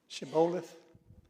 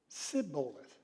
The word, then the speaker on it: Shibboleth: we're not from Ephraim, then say, ever how you pronounce that word? Shibboleth. And he would say, Sibboleth. They couldn't pronounce it.